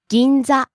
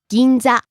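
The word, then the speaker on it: 銀座: Ginsa rising on the second syllable and staying high. Ginsa.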